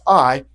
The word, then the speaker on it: Ai: Not going to anger me, but it is pronounced Ai.